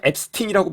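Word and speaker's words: Epstein: 뭐 우리나라죠 근데 이제 그 자기가 앱스팅이라고 불러달라고 했어요 영국이나 미국에서는 영미권에서는 그 발음이 원래 어떻게 나던 본인이 불러달라고 한 대로 불러 주거든요 그래서 미디어에서 항상 이제 앱스틴이라고 말하는데 사실은 이제이 사람 관련된게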